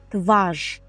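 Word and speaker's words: twarz: лице це у нас тваж тваж записуємо Через рзт яке читається як ж тваш чоло дуже подібно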